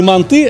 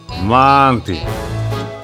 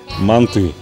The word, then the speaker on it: манты: Они будут говорить не манты, а манты. В тюркских языках ударение ставится всегда только на последний слог. Ну, не бывает города Самарканд, бывает город Самарканд, и блюдо должно называться манты.